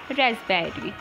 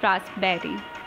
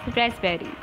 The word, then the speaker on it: raspberry: It's raspberry, not raspberry. It is raspberry.